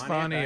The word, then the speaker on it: Fani: fonnie is it f if it has one end it's fny if two ends it's Fanny I guess I I